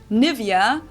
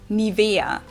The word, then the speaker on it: Nivea: native speakers usually say Nivea Nivea in German we say nia nia so the emphasis on ni wow this is a